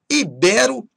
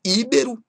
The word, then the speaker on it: ibero: Ibero e não íbero. Muita gente gosta de falar íbero, mas não é ibero.